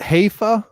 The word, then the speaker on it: hefe: at anything come on pronunciation is so just hey fuh just that's the hefe so hey fuh they got a soft